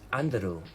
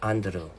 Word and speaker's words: Andrew: That's how they say my name in South Korean and Japan. Their accent. It's Andrew where it's Andrew, not Anderu.